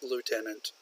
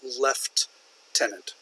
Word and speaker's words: lieutenant: in American English was a lieutenant British pronunciation some people in the UK would pronounce that left tenant left like left like